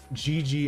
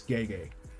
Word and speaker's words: Gege: first started I used to say Gigi akutami just because that's how I felt it was pronounced but now I was corrected many times it's gay gay oh after the the